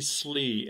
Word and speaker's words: Sleigh: Our guest is Sleigh, and that is the correct pronunciation, yes?